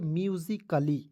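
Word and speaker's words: musically: बाद डबल एलवाई है तो डबल एलवा के पहले ए जो है इसको हम लोग साइलेंट कर देते हैं काट दीजिए हटा दीजिए क्लियर तो यहां देखेंगे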